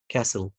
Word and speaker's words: castle: بالمقطع ده أعرف إن T silent letter زي castle whistle wrestle Okay.